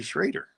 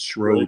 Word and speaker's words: Schroeder: drop my name and they call me Schrader. And if you were watching me for 30 years, you would know that that's not how I pronounce my name. It's Schroeder. Right. So only in Wisconsin is my name spelling pronounced Schrader. Oh. Everywhere else it's Schroeder.